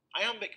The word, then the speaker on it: iamb: Iambic pentameter may sound technical, but there's an easy way to remember what it means. The word iamb is pronounced just like the phrase I am.